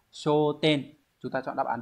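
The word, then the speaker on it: 焦点: Thì sẽ đọc là show. Như vậy, tiêu điểm sẽ là show ten.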